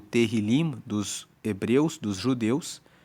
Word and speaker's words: Tehillim: Tanto que no hebraico, o nome do livro de Salmos é Tehillim. Se escreve T-E-H-I-L-I-M, que quer dizer louvores. E o livro dos louvores, o Tehillim dos hebreus, dos judeus, é o livro que